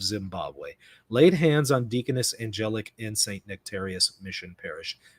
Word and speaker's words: Angelic: On Holy Thursday, May 2nd, 2024, Angelic Molin, pronounced Angelic, was ordained to the diaconate in Zimbabwe.